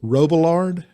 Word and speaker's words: Robillard: executive director, and Russell Robillard. That's right. What's the French pronunciation? Robillard. Robillard. Okay, so that was pretty good.